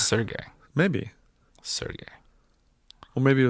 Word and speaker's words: Serge: Is it going to pronounce it? I did, yeah. Okay. It's Serge.